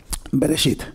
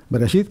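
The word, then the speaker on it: בראשית: Ahí está la letra Yod, que no se pronuncia, es una letra auxiliar. Y finalmente la letra Taf. Bueno, Bereshit. Bereshit, que se traduce como en un principio, no en el principio.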